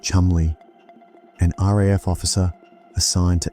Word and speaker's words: Cholmondeley: Second, Charles Cholmondeley, pronounced Chumley, an RAF officer assigned to MI5, eccentric, creative, a bit whimsical, the ideas man.